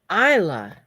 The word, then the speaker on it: Isla: try it her name is pronounced Isla ah that's beautiful but spelled Isla like Island all right oh okay